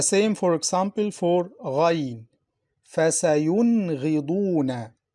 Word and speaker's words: فَسَيُنْغِضُونَ: فَسَيُنْغِضُونَ. Listen, فَسَيُن. The Noon is pronounced clearly. فَسَيُنْغِضُونَ.